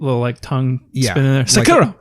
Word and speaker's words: Sekiro: I hope I'm pronouncing it right. Sekiro. I think it's Sekiro. Sekiro. But I'm not 100% on that. Maybe a little tongue spin in there. Sekiro.